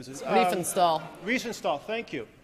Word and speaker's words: Riefenstahl: And her name was Rennie, I can't pronounce the last name. Riefenstahl.